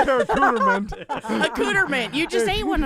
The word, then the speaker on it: accoutrement: No, seriously, ask your Alexa to say accoutrement. It will not do the French accent. It says accoutrement. Say accoutrement.